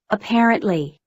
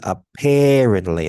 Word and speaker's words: apparently: So here you have two schwas. This is a schwa, this is another schwa, and this is like an E.